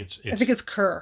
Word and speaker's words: Chur: I think it's Cur. Cur. It's Cur. It's Cur. Yeah. It's spelled Chur, and we thought it's Cur.